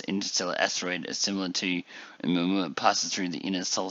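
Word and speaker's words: ʻOumuamua: So, in addition to the technical name, the Pan-STARRS team dubbed it Oumuamua, pronounced Oumuamua, which is Hawaiian for a messenger from afar arriving first.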